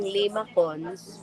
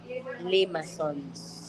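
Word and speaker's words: limaçons: Spelled siyang limacons pero pronounced siya as limasons.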